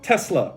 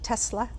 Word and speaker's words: Tesla: you pronounce renault renault next up we have tesla now tesla is another very controversially pronounced car brand to the point where elon